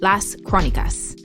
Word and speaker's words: Las Crónicas: We're calling these in-between episodes the Chronicles, Las Crónicas. Perfect pronunciation, Lexi.